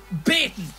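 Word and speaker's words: baytin: there it is 67 bating b a y t i n Regional pronunciation for the word beating so if you're going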